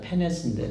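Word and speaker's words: πένης: 하나는 프토코스고 하나는 NS가 아니라 페네스인데 잘못 썼네요. 예. 푸입니다. 푸 발음이. 페네스라고 하는 단어인데 이 페네스는요 그냥 겨우겨우 연명할 수 있는 그런 가난을 얘기해요.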